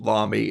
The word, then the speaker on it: Lamy: is a um a lamy pin and it's pronounced vomi it's spelled l-a-m-y and it has lamy